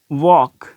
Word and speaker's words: walk: अब इस तरीके से नेक्स्ट वर्ड है वॉक, WALK, वॉक, तो वॉक WALK, जो यहाँ पे भी ये क्या है, एल साइलेंट है।